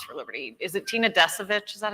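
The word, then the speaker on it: Descovich: Is it Tina Desovich?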